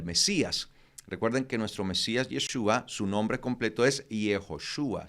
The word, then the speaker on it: Yeshua: se escribe y yeshua ya para el tiempo de nehemías ya no se decía yehoshua sino que se decía yeshua se usaba la la forma simplificada sí es la forma